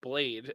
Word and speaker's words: Blaith: and liarnia and then i have blaith which i've given a little side note that is spell that is pronounced blade and then i said